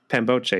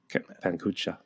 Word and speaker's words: Pangboche: So a member, Pangboche, you're saying wrong, though. I think it's Pankucha.